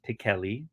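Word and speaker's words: Pichelli: of italian i believe her last name is pronounced pikeli which nobody says it but apparently that's how she says it sarah pickelli second print ultimate fallout 4 custom label oh get a 9 4.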